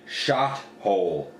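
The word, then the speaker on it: Shothole: with zap trap and shot hole sh o th o L II that's how it smell don't mispronounce it um so those three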